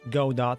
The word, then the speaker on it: Godot: inside the do or go dot as I figured that it's more properly pronounce that way um I will have